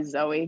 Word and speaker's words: Zoe: my name's actually uh it's greek and it's it's pronounced zoe but um i go by zoe because nobody really knows how to pronounce it oh okay all right